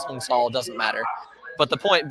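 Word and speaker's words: Cao: our nominee hung tall most people call Hung Cal it's just how we Americans talk I think technically you pronounce it Vietnamese hunga doesn't matter but the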